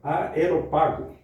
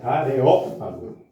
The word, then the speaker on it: Areópago: no meio do aeropágo, ô irmão, é aeropago ou aeropó aeropago ou aerópago?" Aerópago, né? Aerópago. É. É porque tem um acento no mais forte, né? É areópago. É areópago. É isso. Areópago.